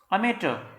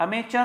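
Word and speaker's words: amateur: अमेटर, अमेटर, अमेचर नहीं है, अमेटर।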